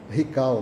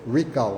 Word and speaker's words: recall: uma prática das empresas que se chama ral ou rical né Se fosse falar em português né na pronúncia do do português né mas é recall né que seria chamar